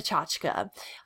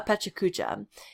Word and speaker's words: Pecha Kucha: So the type of presentation you guys will be doing is something called a pachachka, or just because of the way it's spelled, a pechakucha.